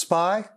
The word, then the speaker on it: SPI: peripheral interface and is sometimes pronounced spy uart which stands for